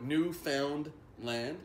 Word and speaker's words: Newfoundland: of us neew but newfound land that's not pronounced new family and we hate it when people say new family it's Newfoundland sure I was gonna